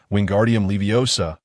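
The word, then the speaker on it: Wingardium Leviosa: Listen carefully to my pronunciation. Wingardium leiosa. It is crucial to pronounce it correctly.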